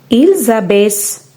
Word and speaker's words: abaissent: In this conjugation, the end -ent is always silent, so it should not be pronounced.